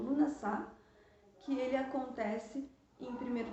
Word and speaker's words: Lughnasadh: embaixo para vocês, mas ele se pronuncia como Lughnasadh, que ele acontece em 1º de agosto no norte e 1º de fevereiro no sul.